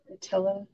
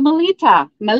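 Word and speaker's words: Melitta: Attila. I'm saying it wrong. In the box. It's in a box. In a box. Oh, one of the coffee mugs. The Melita.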